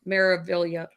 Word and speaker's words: Meraviglia: Meraviglia.